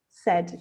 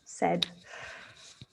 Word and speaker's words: said: yeah so said that a i is pronounced as an e an e sound so it's pronounced said yeah said said yeah um